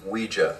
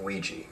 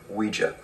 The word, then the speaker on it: Ouija: Ouija what it's pronounced Ouija not Ouija comes from the French and German words for yes we and ya Ouija that's 12.99 I like that and then they have the matching placemats these are 329.